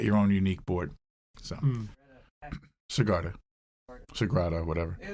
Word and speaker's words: Sagrada: So, Sagrada, whatever. Yeah, there's an R in there. Yeah, Sagrada. It's an A.